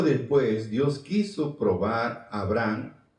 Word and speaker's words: Abraham: Tiempo después, Dios quiso probar a Abraham, aunque la palabra es Abraham, se escribe porque tiene H intermedia.